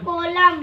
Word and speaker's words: column: lungs and nerves nerves nerves are protected by the spinal कॉलम column. N silent रहता है ना, कॉलम पढ़ते हैं बस।